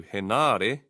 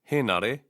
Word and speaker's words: Henare: Some place emphasis on the second to last syllable, like this, Tau Henare and Nanaia Mahuta. This is not correct. The stress should be on the first vowel, he of Henare and ma of Mahuta. Henare and Mahuta.